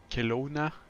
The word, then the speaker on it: Kelowna: Stream and we we expect also ATC in Kelowna I will get used to the pronunciation very slowly Kelowna yeah that's correct um